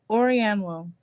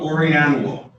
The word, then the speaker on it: Orianwo: Orianwo. Orianwo. Orianwo. Can you spell that for my court reporter? ADESUWAORIANWO. So it's basically pronounced just like it's spelled.